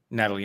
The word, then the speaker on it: Nathalie: Natalie Emmanuel, yeah. Or is it Nathalie? I don't think you pronounce the H.